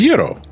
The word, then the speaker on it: gyro: So it's accepted pronunciation when referring to the food as euro according to Miriam Webster. uh soft G at the beginning like gyro, but this is not the standard Greek pronunciation in in Greece and